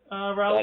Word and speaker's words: Rolub: you guys call yourselves, but I have at Rolub, and I'm pronouncing that right, Seville, right, Rolub?